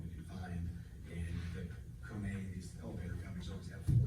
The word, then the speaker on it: Kone: I'm glad you said Kone, cause I would've called it Cone. Yeah, Marion, I think Marion's here, you pronounce it Kone, right?